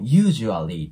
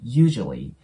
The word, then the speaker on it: usually: I usually ですねこれも usually ていう感じであの部分を強く発音するんじゃなくてほとんどそのあがなくなりますなので usually usually こんなイメージですねそしてこの L の